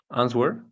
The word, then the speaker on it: answer: Answer. Ok. La W no se pronuncia. Y haz de cuenta que esta E es una O y pronuncia la RS.